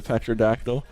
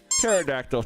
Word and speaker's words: Pterodactyl: Uh send me an email you want to use to be able to sign into Petraactyl. Pterodactyl technically speaking, but I pronounced a P cuz I'm a gremlin.